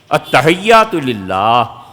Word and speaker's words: التحیات للہ: التحیات للہ اصل تلفظ یہ ہے. یہ اتا جو پڑھتے ہیں نا التحیات للہ، یہ اتا ہے کیا یار؟ کوئی چیز نہیں.